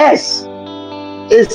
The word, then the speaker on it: six: In French, six is pronounced sis, but is the same spelling.